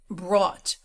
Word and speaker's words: brought: to explain here that we pronounce a certain series of words that end in o u g h t like the word brought. We pronounce it brought. There are other words that rhyme. Bought, thought, sought.